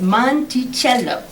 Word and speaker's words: Monticello: gardens and the mountains beyond then he said monticello phonetically as monticello little monk aha jefferson noted your cee is